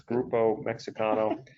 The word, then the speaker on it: Grupo Mexicano: It's Grupo Mexicano.